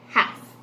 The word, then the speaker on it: half: one half one half remember the l is silent half okay two listen as